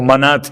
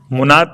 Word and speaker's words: منات: لات و منات، اور منات ہے، منات نہیں ہے. یہ مناف ہے، مناف نہیں ہے.